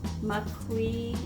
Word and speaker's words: maqui: Maqui, M-A-Q-U-I, a bunch of other stuff, maca, and blueberry powder.